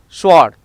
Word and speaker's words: sword: Some common words like answer, to, sword is remain silent.